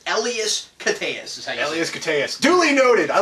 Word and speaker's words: Elias Koteas: the guy at the beginning of the movie who is going to the death chair is played by Elias Koteas, or however you say the gentleman's name.